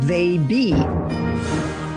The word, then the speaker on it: Theyby: Your daughter just had a baby, but she tells you that it's a they-be, Theyby, pronounced they-be.